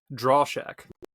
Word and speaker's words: Drauschak: having me okay good Sam how do you pronounce your last name draw Shack draw Shack EAS okay trille and draw Shack